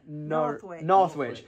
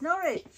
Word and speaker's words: Norwich: you pronounced this saying northwich but there's no th in it so it's not North that's norch yes I went to norch